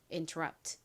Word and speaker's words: interrupt: interrupt. 이 단어는 rub 부분에 강세가 있어요.